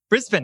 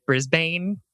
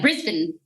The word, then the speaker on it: Brisbane: writing from brisbane australia brisbane i said it right i had to like remind myself don't say brisbane uh yeah brisbane yeah i've never been